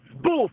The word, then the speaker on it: spoof: You just told me they pooped on your number. No, spoof. I didn't say poop. I said spoof. Yeah, spoof. I'm saying pooped, yes. No, spoof. Spoof is spelled S-P-O-O-F, not poop.